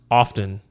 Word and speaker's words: often: both of them um some people pronounce the T and some some people don't a lot of times